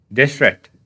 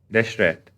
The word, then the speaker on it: Deshret: So I learned how to pronounce this his name. It's Deshret. Denslev said it correctly. Deshret.